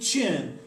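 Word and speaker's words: Qin: the modern era there was an emperor named chin and his name is spelled q-u-i-n and that's actually where China gets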